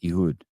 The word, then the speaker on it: Ehud: Pronounced Ehud.